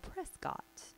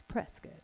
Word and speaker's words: Prescott: And there's a town in Arizona that looks like it should be called Prescott. But it's not. It's like a biscuit. It's Prescott.